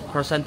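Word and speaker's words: croissant: guys dito Slovakia yung pagpronounce sila ng crissant hindi cant sabi niya crissant crissant yung sinabi ng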